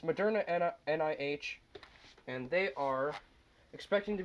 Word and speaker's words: Moderna: pronounce things royal do you want me to pronounce them for you no it's modern nih and they are expecting to be approved by